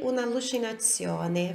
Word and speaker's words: un'allucinazione: Non sei più il mio ricordo, sei un'allucinazione. Você não é mais uma minha lembrança, você é uma alucinação. Olha aqui como a pronúncia, allucinazione. Isso daqui parece uma palavra só, né?